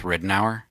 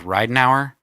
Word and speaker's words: Ridenour: about Michael Ridenhour and we're going with Ridenhour because we've been trying to figure out how to pronounce the last name we thought we found it and we thought it was right an hour and then a national TV show set Ridenhour so we're gonna go with Ridenhour i just if